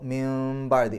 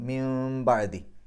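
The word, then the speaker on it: مِنْ بَعْدِي: കൊടുത്തിട്ടുണ്ടാവും മുകളിൽ ചെറിയൊരു മീം അപ്പൊ മിൻ ബാദി മിൻ എന്നല്ല എൻ എന്നുള്ള ഉച്ചാരണം അല്ല വരേണ്ടത് മീമിലേക്കാണ് പോകേണ്ടത് മിംബദി മിംബി ഇസ്മുഹു ഇസ്മുഹു എന്നുള്ളതിന്റെ അവസാനത്തിൽ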